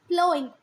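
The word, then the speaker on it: ploughing: अब इनके अपनी रीज़न थे मानने के कि प्लगिंग क्यों नहीं करना है. प्लोइंग है ना, कुछ हमारे टीचर्स कभी प्लग बोलते थे है ना, पर वैसे इसका जो प्रोनाउंसिएशन है, करेक्ट प्रोनाउंसिएशन है वो प्लोइंग, प्लो, ठीक है.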